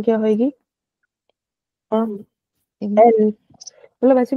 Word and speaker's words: elles: इसका मतलब होता है दे एंड ELLES, इसमें भी हमने एक एक्स्ट्रा S लगा दिया, तो इसकी प्रोनाउंसिएशन क्या होगी? एल, मतलब ऐसे भी बोल सकते, ये वाली प्रोनाउंसिएशन भी याद रखो, तो एल।